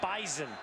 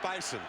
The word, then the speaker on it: bison: Dakota State fans by making sure we call him the Bison the not the Bison right right it's a z in there even though it's spelled with an S it's bison here's Jensen on the